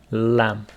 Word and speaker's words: lamb: for that is lamb please don't pronounce this B as it is lamb and if we we